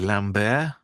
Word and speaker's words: Lambert: wrong as well cuz everybody was saying Christopher Lambert, but it's actually Lambbear. Lambbear. So in the sequel, he fronted some money up for the production of the movie and it says Lambbear as in animals entertainment